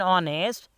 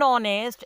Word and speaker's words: honest: But because their H is silent and their pronunciation starts with the vowel sound, therefore we use N before them.